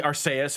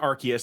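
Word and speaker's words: Arceus: I know it's probably Arus, but I pronounce it Archus.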